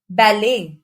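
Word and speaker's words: ballet: Moin castle hustle whistle कुछ शब्द जो फ्रेंड से आए हैं और ईटी से एंड होते हैं तब भी टी साइलेंट होता है फॉर एग्जांपल बैले गोर मेंे बफे नेक्स्ट इज लेटर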